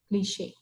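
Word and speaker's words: cliché: That's how it is pronounced in that way, that extended pronunciation when it comes towards the end of the word, cliche.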